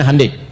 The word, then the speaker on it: Hyundai: Ya Hyundai saya tahu bahasanya, dibacanya Hyundai.